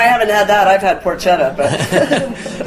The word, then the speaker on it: porchetta: Well, you guys ever have um porquetta? It's It's spelled porchetta, but it's pronounced porquetta. Yeah. And so it's a basic Well, no, I haven't had that. I've had porchetta, but it's basically Brian